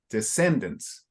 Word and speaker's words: descendants: The pronunciation is up front, so it's descendants. Descendants. Yeah, in the middle, descendants.